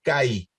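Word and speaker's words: καί: Dijimos que se acentúa la primera vocal del diptongo, por lo tanto esto es CAI.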